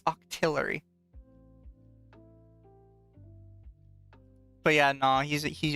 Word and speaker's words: Octillery: really good after leaks it's Octillery people keep saying it wrong it's Octillery but yeah no he's